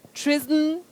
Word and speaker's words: treason: What we should not use is the voiceless sound. The unvoiced sound s should not be used. That letter S takes the voiced sound Z.